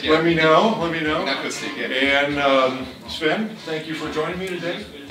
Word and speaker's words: Inakustic: And with me we have Sven Schulz from Inakustic, if I pronounce that correctly. That's correct, yeah. Let me know. Inakustic, yeah.